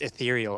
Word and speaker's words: ethereal: Well, it's hard to explain, but It's pronounced ethereal, Aldous.